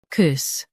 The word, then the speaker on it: coups: The P is silent. COUPS, COUPS.